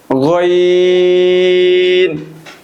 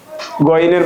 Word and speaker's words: غين: গইন। গইনের মাখরাজ হলো হলকের শেষ হইতে বা কণ্ঠনালীর শেষ অংশ হইতে গইন উচ্চারিত হয়।